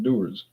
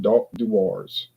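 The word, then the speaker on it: Dewar's: Doers, doers, doers. I know one store manager call it doars.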